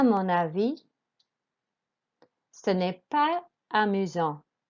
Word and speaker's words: amusant: Then we had number 6, which was amusant. Again, do not pronounce the T at the end.